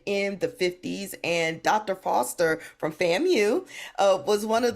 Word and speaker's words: Foster: they would spell out Foster. You see it's Foster. We know it's Foster. But the announcer would always go F-O-S-T-E-R-A. Foster. I'm like, did you have to make R 2 syllables?